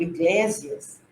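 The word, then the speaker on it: ἐκκλησία: Então, ele diz que igreja, que na verdade se pronunciava no grego iglésias, significa assembleia.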